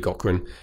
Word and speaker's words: Gaughran: an interview know that they've got Cochran Cochran is spelled GA ugh are a and obviously you